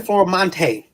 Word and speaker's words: Florimonte: Formante, which sounds like an actor's name, by the way. So you pronounce it right, so that's great.